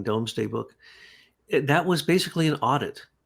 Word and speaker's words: Domesday: the Doomsday Book but the proper pronunciation is what you're saying domesday book that was basically